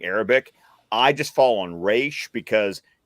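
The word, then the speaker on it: Ra's: comes to speaking Arabic I just fall on re because D O'Neal said re Neil Adams said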